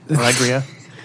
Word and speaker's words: Alegria: Alegria. That's how it's pronounced in my way.